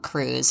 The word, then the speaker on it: Krewes: So crew members, and I'm going to talk a lot about crews, and it's spelled Krewes, parade crew members, and I'll get into that a lot.